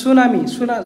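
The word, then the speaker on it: tsunami: থাকবে সাইলেন্ট যেমন হচ্ছে সুনামি সুনামি স্পেলিং হচ্ছে টিটা সাইলেন্ট এর নিউমোনিয়া নিউমোনিয়াতে পি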